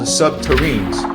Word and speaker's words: subterranes: SSP proponents claim that construction involved nuclear-powered tunneling machines called subterranes, rhymes with submarine, capable of melting through rock and soil, creating smooth, glass-like tunnels.